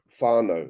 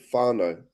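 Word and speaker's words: whānau: So actually the MAI word for family is faro and it's spelled wh h a n a u and the equivalent in the Hawaiian word language is orana.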